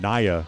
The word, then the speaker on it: Naya: And Naya is how they pronounce her name.